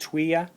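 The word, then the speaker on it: Thuya: First one here is called Tuya wood. It's spelled T-H-U-Y-A, but pronounced Tuya.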